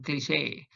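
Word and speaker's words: cliché: Word number 7, cliche. You can see that small line on top of that E. I made it to signal that the E is pronounced as A, as in cliche.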